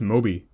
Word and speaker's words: Mob: It's pronounced Moby. It's spelled Mob, but it's pronounced Moby.